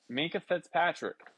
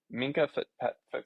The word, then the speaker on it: Minkah Fitzpatrick: Minkah Fitzpatrick, no longer a Steeler. He is now. Is it Mika? Minkah Fitzpatrick. Is that how you say it?